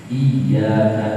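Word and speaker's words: إياك: Maliki panjang, jauh di iyyaka na'budu itu ada tasydid. Iyyaka hanya kepada na'budu kami menyembah. Kalau tasydidnya dihilangin, iyyaka na'budu, iyyaka itu artinya bau syamsi, cahaya matahari.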